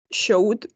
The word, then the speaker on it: showed: the past simple, so the ed is not going to be some. We're going to say a recent survey showed, yes, la E no la pronunciamos y terminamos con el sonido de la D.